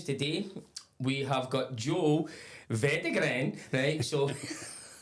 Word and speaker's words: Veideglen: Veideglen.